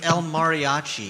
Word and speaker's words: El Mariachi: I mean, It's El Mariachi.